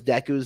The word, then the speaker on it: Deku: What is Deku's most powerful quirk combination?